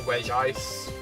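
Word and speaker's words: Regice: People go always go back and forth if it's Reggie ice or re ice. Like I It's always been one or the other. It I I'm pretty sure the confirmed one is re ice, you know, because you know it's only got one eye there. If it had two eyes, it' be red eyes.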